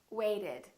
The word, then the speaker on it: waited: If the last letter is t or d, we add an extra syllable. Wait, waited.